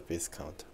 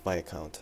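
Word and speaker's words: Viscount: have to apologize for my um mispronunciation of the p account or as it is correctly pronounced V count um I was just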